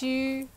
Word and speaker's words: Xu: this shoe shall Xu Xu is pronounced you I think second time to live